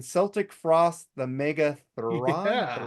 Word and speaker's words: Celtic Frost: Oh, it's but Celtic, not Celtic. My bad. I used to pronounce it Celtic Frost too, and now I say because I think Tom G. Ward says Celtic Frost, so I'm gonna go with the guy that fucking's in the band pronunciation.